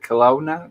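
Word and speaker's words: Kelowna: of for rent in col how do you pronounce that Colona Colona Colona Colona Colona I think it's a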